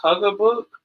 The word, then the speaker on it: Haugabook: yes Miss Deja I believe the name is pronounced Huger book but Mike and Deja they kind of you